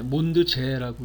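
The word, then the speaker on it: Mondsee: 몬드지어는 오스트리아 독일어를 쓰잖아요. 몬드는 이제 달이고 지어 또는 제, 몬드제라고 읽기도 하던데요.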